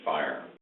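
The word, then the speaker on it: FHIR: under its context called Fast Health interoperability resources are pronounced fire Bas indry best practices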